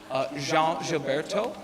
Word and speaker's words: João Gilberto: name of, and I'm going to get the pronunciation right, João Gilberto, who is basically the Portuguese Tom Petty.